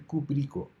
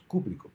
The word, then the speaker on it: cúprico: llamarse hidruro cúprico y no es cúprico es cúprico por lo tanto habría que marcar la tilde en la primera sílaba esto es una palabra esdrújula entonces para hacer una